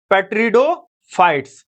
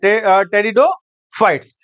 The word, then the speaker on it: टेरिडोफाइट्स: पेट्रिडोफाइट्स। Sorry टेरिडोफाइट्स। पेट्रिडो नहीं पढ़ते हैं। याद रखिएगा पेट्रिडो नहीं पढ़ेंगे यहां पे। टेरिडोफाइट पढ़ते हैं। पी यहां पर साइलेंट है।